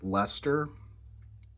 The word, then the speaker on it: Leicester: I just realized I was saying the name wrong. It's Leicester.